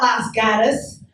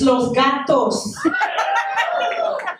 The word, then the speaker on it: Los Gatos: It's not Las Gatas, it's Los Gatos.